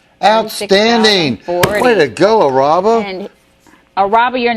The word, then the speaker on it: Araba: Isaac is that you no I think it's a r a b a or is that Roba hello hi what's your name araba okay araba